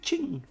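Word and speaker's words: 请: How to say please in Chinese, you would have to say ching. It's a little bit like chin, but with a g sound at the end.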